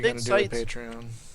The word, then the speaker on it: Patreon: Well, like Well, it's think of the word patron. yeah, Right. And Patreon.